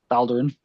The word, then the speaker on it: Thaldurin: And then he sees that Thaldurin is, how do you pronounce it? Thaldurin.